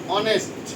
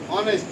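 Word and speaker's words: honest: বুঝতে পারছি না তাহলে শুধুমাত্র এইচ যদি হ এর মত উচ্চারণ না হয় যদি অ এর মত বা আই এর মত উচ্চারণ হয় তাহলে তার পূর্বে এ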